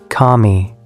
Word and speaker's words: kami: The pronunciation in Japanese is kami, which is the standard word for god or deity.